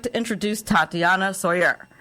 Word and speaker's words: Tsoir: without further ado i'd like to introduce tatiana sawyer how are you i'm doing great melanie how